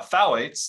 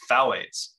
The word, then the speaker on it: phthalates: BPA free they have a lot of uh phthalates they tend to have a compound a chemical called phthalates it's spelled p-h-t-h-a-l-a-t-e-s super weird spelling so people don't